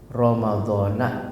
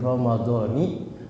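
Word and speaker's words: رمضانِ: Ramadhana hadhis sanati. Ini kan kesalahan yang tahunan Ustadz nggak pernah koreksi. Padahal kalau orang ngerti nahu dibilang ini gila-gilaan apa bacanya. Nawaitu shauma ghadin an ada'i fardhi syahri Ramadhani hadhihi sanati. Kita ajarin yang benar.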